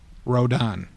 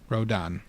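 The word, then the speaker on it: Rodin: The answer is Rodan. Rodan this man.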